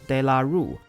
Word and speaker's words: De La Rue: That's why I pronounce it in the English way, not the French way.